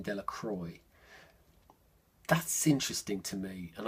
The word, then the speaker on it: Delacroix: Written down, we'd all say Delacroix. We probably, most of us would say Delacroix because we'd see it and we'd recognise it somehow as French. The villagers pronounced his name Delacroix.